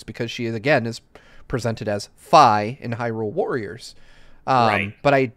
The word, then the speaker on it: Fi: looked it up, and Fi's name in Japanese is Fi, which is spelled out in katakana there. And so he says, so at least in Japanese, it is Fi, F-A-I.